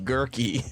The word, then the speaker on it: Gurkey: the last name of Gurkey? Gurkey. Right. Is that what is Gurkey? He said It that just rhymes with turkey.